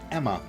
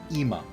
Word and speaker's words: Ema: thanks to you guys I know her name is pronounced Emma and not EMA yeah that's Emma Emma